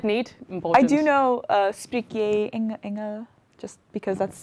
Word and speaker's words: spreek: Spreek. 2 E's is A. A. Like geen. Geen.